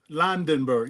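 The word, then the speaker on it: Lendeborg: Landenberg.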